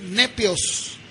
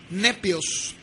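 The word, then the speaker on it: νήπιος: La palabra niño en el griego o se pronunciaría nepios, N-E-P-I latina O-S, nepios.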